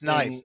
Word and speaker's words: knife: saying well gory that's knife you don't pronounce the k right and then we